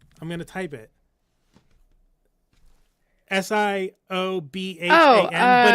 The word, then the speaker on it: Siobhan: S I O B H A N.